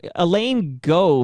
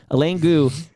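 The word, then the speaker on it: Eileen Gu: I actually don't mind if you start like Elaine Go, for example, is an American snowboarder and ski cross, etc. Who Gu? Okay, Elaine Gu.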